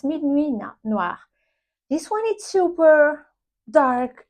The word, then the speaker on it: Minuit Noir: It's Minuit Noir.